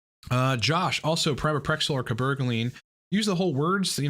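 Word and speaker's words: cabergoline: from whatever channel that is that calls it cber the drug is called cabaline that's how you pronounce it as well not cab cabol line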